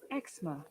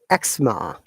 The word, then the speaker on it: eczema: You see, in British English we say it eczema, but in American eczema.